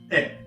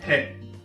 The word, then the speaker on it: へ: Pag ginagamit natin ang particle e, ang pronunciation natin is e, not he. Walang sound ang H.